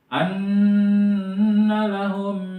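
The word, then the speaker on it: أَنَّ لَهُم: Nun pakai tasjid itu namanya nun gunah. Jadi bacanya itu nunnya harus dimasukin an gitu ya. Jadi jangan lempeng anak. Nah, jangan kayak gitu, tapi gitu. Wa 'amilus solihati anna lahum jannatin tajri anna lahum hum.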